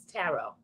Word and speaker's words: tarot: It's tarot. The T at the end is silent.